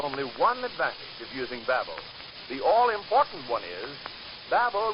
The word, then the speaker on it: Bab-O: Yet, these money-saving offers are only one advantage of using Babel.